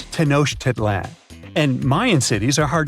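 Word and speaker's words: Tenochtitlan: Can you pronounce this name of the Aztec capital city? Yes, it's quite difficult to say in English and above my pay grade. Okay. Okay. It's Tenosh Titlan.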